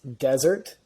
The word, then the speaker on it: Dessert: the time and uh it is desert it's pronounced desert spelled dessert uh but you know